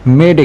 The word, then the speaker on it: মেডে: তিনি মেডে শব্দটি বেছে নেন ফরাসি শব্দ মেদে থেকে, যার অর্থ আমাকে সাহায্য করুন। ইংরেজি ভাষাভাষীদের উচ্চারণের সুবিধার্থে এটিকে মেডে হিসেবে প্রচলিত করা হয়।